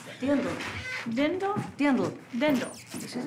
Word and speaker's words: Dirndl: How do you pronounce it? Dindel. Dindel? Dindel. Dindel. This is a dindel. Yes. What is a dirndl?